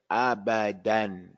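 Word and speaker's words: أبدا: It says abadan. We're going to pronounce it with the tanween. Then we're going to pronounce it with the med. If this was Quran and we ended at the ayat, it's going to say abada. It's going to be a mud.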